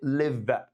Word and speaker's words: live: طيب كلمة دي لما بتيجي كفيرب معناها بتتنطق live. live مش لايف، لا live.